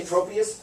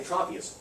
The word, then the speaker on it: Tropius: I told her, some people say Tropius, some people say Tropius. Tropius, troposphere, Tropius, tropical.